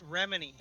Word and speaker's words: Remini: I'm like, "Yeah, Leah Remedi Bro, plays." how did you say her name? Is it, how does Leah Remedi? I probably pronounced it wrong. It's Remini.